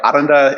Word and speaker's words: Arrernte: So, culturally we roll our Rs. So, Aranda is how you say it.